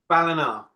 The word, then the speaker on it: Ballina: Ballina.